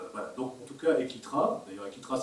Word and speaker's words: Eklitra: Un autre élément important, Equitra en 67, début 67, officialise l'adoption du système orthographique de René Debris.